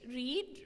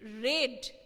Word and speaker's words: read: Next, also I can write here, write, wrote, read, read, it is not changed, the spelling, but read, pronunciation will be changed. Read, read. Okay?